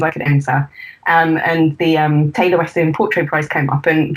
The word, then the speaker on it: Taylor Wessing: Is that how you pronounce it? Yeah. Taylor Wessing.